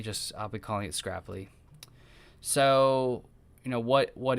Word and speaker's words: Scrapli: so that's one of the biggest things about scrapply is it it kind of um that's its